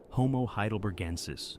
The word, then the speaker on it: heidelbergensis: Homo heidelbergensis, pronounced hay-del-berg-en-sis, is what scientists call an archaic human.